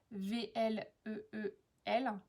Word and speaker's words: Vleel: Mais bon, voilà, tout le monde prononce Vleel. Là, pour le coup, je sais que ça se prononce comme ça, donc...